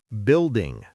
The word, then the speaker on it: building: Building. Many people skip the U sound.